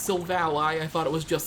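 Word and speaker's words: Silvally: super effective and yes this pokemons name is pronounced Silve a lie I thought it was just so volley but the anime says it's sold a lie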